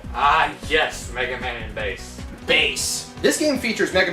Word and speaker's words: Bass: is atrocious it's pronounced bass not bash it goes along with the musical name scheme like rock man roll blues which is proto man's